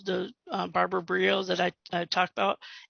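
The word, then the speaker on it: Briot: that i talked about it's actually spelt b-r-i-o-t and if i put the t in and the sound x i'm going to get a whole different set of names than i'm going to get if i put if i did it as brio because that's what it sounds like it could have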